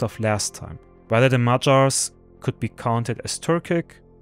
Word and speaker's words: Magyars: And right after that, I'm also going to upload another documentary about the Magyars, or the Magyars in English.